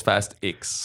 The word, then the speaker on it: Fast X: de Louis le terrier je pense qu'on le prononce fast x fast X mais change les